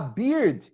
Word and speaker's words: beard: goatee yes now a beard is when you grow the hair here here here here here okay now it's very common to have big fields and not Birds okay beard understand this yes excellent